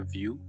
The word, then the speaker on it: Wiuff: Connect with him on Facebook, View, or Out of View Photography. That's actually very creative. Yeah. It's spelled View like your name, like Out of View Photography.